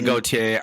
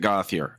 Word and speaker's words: Gauthier: Judge gothier and Tall you people want to say Gautier I'm aware but he pronounces it goth here okay Let It Go